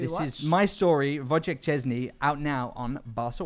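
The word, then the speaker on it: Szczęsny: Last night we had a cracking match, and as many of you pointed out in the chat, our Polish goalkeeper, Wojciech Chesney, Wojciech Chesney.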